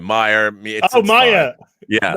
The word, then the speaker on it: Meyer: It's pronounced Meyer, not Mayor. Great show, by the way. Okay. My middle name, Meyer.